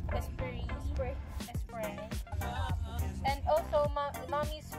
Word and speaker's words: Esprit: How do you pronounce this? Esprit? Espire? Esprit.